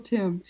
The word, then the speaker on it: Tymn: They're older books, but I recommend anything that Michael Tim, and his name is spelled T Y MN with there's an N. It's like him. It rhymes with him. Michael Tim.